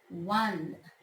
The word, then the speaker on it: one: The word one sounds like the word one, W-O-N, which begins with the consonant W.